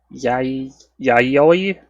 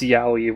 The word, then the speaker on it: Yayoi: Yayoi? Yayoi? I pronounced that as Yaoi, which is not right.